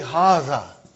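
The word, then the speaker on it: هذا: erase it about haha see it is pronounced like haha what but this Aleph is not written it is explaining the key also so it is haha okay haza means this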